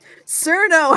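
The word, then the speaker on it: Chen: So Cherno, first of all, her name is pronounced Cherno, and I don't like it either, but it does lead to the best pun is that if she worked in a nuclear radiation facility, she'd be called Chernobyl.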